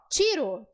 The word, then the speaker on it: tiro: No português tá certo, mas no espanhol a letra T, ela não tem esse som de t. A letra T, ela é suave no espanhol. Tiro. metió aquí. Tiro, metió. Suave. Isso aí, suave.